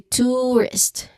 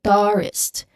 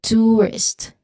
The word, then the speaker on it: tourist: So it's it should be tourist not tourist but tourist.